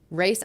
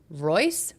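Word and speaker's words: Rayse: Race r a y s e. I'm saying it wrong. Royce rice race like raise your hands kind of thing.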